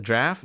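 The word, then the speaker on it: draught: well let it happen is it draft that's how you pronounce it I'm sorry all right let me let me let me draft oh dude you're right what do you say it's the British spelling of draft wow that's it what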